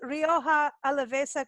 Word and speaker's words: Rioja Alavesa: pronounce Rioja Alavesa correctly, or is there a You better?